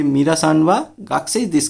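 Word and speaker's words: 学生: अच्छा, गाकुसेई अगर आप इसको पढ़ेंगे जापानीज में तो एक गाकुसेई है, बट जब जापानीज में गाकुसेई प्रोनाउंस करते हैं प्योर जापानीज में तो वो गाक्सेई बोलता है, गाकू नहीं बोलते।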